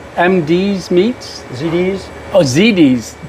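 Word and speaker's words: ZD's Meats: How do you pronounce MD's Meats? ZD's.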